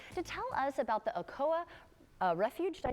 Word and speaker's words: Okoa: Allison Chance back to tell us about the Okoa Refuge.